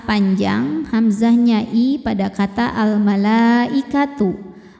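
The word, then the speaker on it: الْمَلَائِكَةُ: Mad tabi'inya fathah panjang, hamzahnya i pada kata al-malaikatu. Maka lamnya panjang, boleh 4 boleh 5 harokat.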